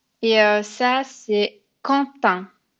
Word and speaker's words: Quentin: Et ça, c'est Quentin. Je sais que ça se prononce pas du tout de la même façon que c'est écrit, mais c'est un prénom français et c'est Quentin.